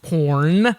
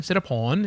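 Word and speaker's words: Sitaporn: because It's not, I mean, first off, the name is not pronounced porn. The R is gone. It's more like, it's pawn. Sit a pawn. Pawn. Sit a pawn is the right way to say that.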